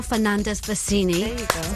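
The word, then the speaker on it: Fernandez-Versini: Cheryl Fernandez Bassini.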